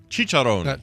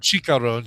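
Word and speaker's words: chicharrón: And I did mispronounce Cheecharon. Cheecharon. Not Cheecharon. Cheecharon.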